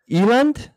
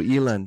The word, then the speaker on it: Eland: So as you notice by his name is Eland? That's right, yeah. That's right. That's the right pronunciation. Got it correct? No. Yeah, a lot of people say Eland, but you've got it right.